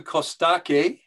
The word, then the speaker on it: Costache: kostake ch pronounced k in romanian kostake is is